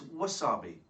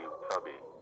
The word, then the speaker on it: wasabi: No, it's wasabi. The Japanese pronunciation would be wasabi.